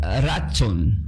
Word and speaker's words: Ratzón: Y la palabra del hebreo, esta palabra del hebreo, el favor, se pronuncia como diga ratson.